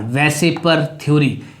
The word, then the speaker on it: VSEPR: क्या, वेसिपर थ्योरी, VSEPR, वेसिपर थ्योरी। वेसिपर stand for valence shell electron pair repulsion थ्योरी। तो valence shell electron pair repulsion थ्योरी, इट is pronounced as वेसिपर थ्योरी।